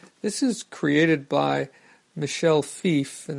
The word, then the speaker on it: Fiffe: is created by Michelle fief and that's Fi FF II and I'm pretty sure that's the correct pronunciation even though I've heard other people say fifi but this was a